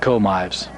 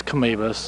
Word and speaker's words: Canevas: A lot of people pronounce it Comives. Yeah, But it is Canevas.